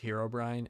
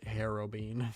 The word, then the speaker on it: Herobrine: a friend Saha that always pronounced Herobrine Herobine for some reason and it was not